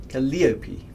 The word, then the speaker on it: Calliope: patch is imminent excellent oh emphasis on the second syllable so cali calliope i'll get confused um